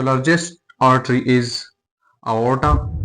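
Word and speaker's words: aorta: so largest artery is आओटा या जिसे आयोटा भी सुनने में मतलब आप जब कहते हैं इसे प्रोनाउंसिएशन आयोटा आती है या आओटा सो लार्जेस्ट आर्टरी आओटा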